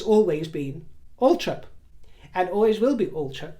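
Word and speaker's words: Althorp: family it's always been Ultra and always will be ultra and I also told you that that is how the Spencer family historically pronounced it and it's how the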